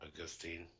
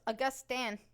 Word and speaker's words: Augustan: Augustine. No, it's Augustan.